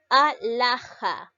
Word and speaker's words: alhaja: La L va junto con la A. ¿Por qué? Porque esta H no va a llegar a impedir la formación de la sílaba. ¿Está bien? La sílaba llega a ser la.